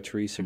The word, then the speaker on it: Therese: h ER e SE CA yes I do pronounce it Teresa but my mother is Dutch and so she